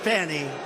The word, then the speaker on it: Fani: It's all, look at Fani, F-A-N-I. It should be pronounced Fanny.